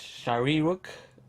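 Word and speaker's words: Shyriiwook: pronounce it right here it's Shari rook that's how you say it so anyways um which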